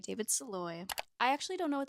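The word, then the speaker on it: Szalay: I will voice over when I know how to pronounce your last name. It's Saloy, David Saloy.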